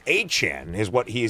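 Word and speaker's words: Etienne: Travis, we no longer call him ETN. It's a Chan is what he said is the true pronunciation of his last name.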